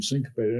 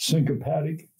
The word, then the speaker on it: syncopated: Yeah, because we address the specific issue in a syncopatic. Is that the right way to say it? Syncopated, yeah.